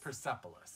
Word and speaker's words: Persepolis: Persepolis.